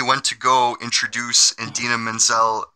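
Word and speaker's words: Idina Menzel: to go introduce and dina manziel mistakenly pronounced her name as adele denzeem i don't know how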